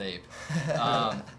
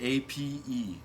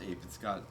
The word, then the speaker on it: A.P.E.: Okay, A.P.E. Yeah. is the acronym. Yeah. So it's not really supposed to be pronounced APE.